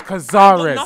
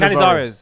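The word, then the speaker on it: Cañizares: Name is Cazares, and I love him. You said it wrong, but you said Canizares. It wrong. Canizares.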